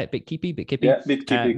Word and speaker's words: Bitkipi: Yeah, Bitkipi, correct.